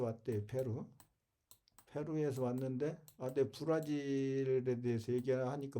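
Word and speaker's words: Brasil: 그러니까 브라실 브라실 그래 아 이걸 실로 발음 하더라고요 실로 우리는 질 아 이게 제인 거야 Z 이걸이가 어제로 쓰고 S 쓰죠 브라질을 어떤 때는 이렇게 쓰고 브라질을 또 어떤 때는 브라질을 이렇게어요 이거 실로 발음을 해요 걔들은 우리는 질로 발음하는데 브라질 그래서 못 알아들었어요 제저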